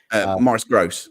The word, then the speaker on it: Maurice Grosse: It was more about Maurice Grossi. Is that how you say his name? Morris Gross.